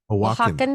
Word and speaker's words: Oaxacan: Oaxacan. Oaxacan. That's how you say it.